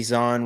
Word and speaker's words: Zahn: yeah, Timothy Zahn wrote them.